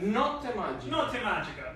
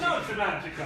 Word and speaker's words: Notte Magica: Notte Magica. Magic night. But you right? have to say not It's magic. Notte Magica.